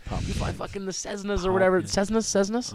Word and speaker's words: Cessna: It's Cessna. Okay. Or if you say it like my grandfather, Cessnut. Like, where the nut?